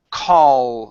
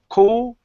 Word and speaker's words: call: And our last one here is the call sound. So instead of call it cool, open your mouth.